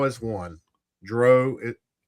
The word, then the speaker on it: Drow: You either say it like cow or you say it like snow.